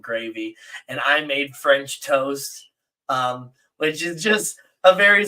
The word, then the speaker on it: Toest: So I had to spell it like toe, like your foot toe, st. TOEST, toast.